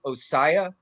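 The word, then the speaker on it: Ossai: how do you say the other guy Joseph osaya oh so I'm gonna get it right o-s-s-a-i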